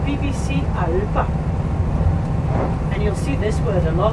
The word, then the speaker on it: Alba: Caledonia was the Roman word, Alba is the Gaelic word, but we spell it A-L-B-A and pronounce it Alba. Kind of go down and up and the B's a B. And when I was a